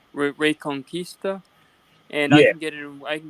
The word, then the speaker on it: Reconquista: say something real quick the word that you just uh mispronounced unfortunately is uh ray conquista and i'm getting i